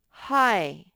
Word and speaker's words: high: up in the sky that gh is silent and by the way igh what do you think igh says whoops igh says i no no miss gillum